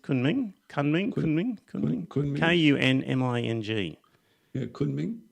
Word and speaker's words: Kunming: Because the people of, how do you pronounce it? Kunming? Kunming? Kunming. Kunming. Yeah, Kunming.